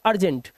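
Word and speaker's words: urgent: यू के बाद आर जी है। दोनों कोसोनेंट है। तो अर्जेंट इसे एम बी ए दोनों कोसोनेंट है।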